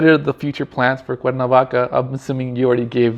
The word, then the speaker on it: Cuernavaca: And Cuernavaca, it's pronounced Cuernavaca in Spanish, right?